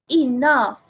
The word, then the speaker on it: enough: enough now this guys the pronunciation is with f at the end f enough enough number four there are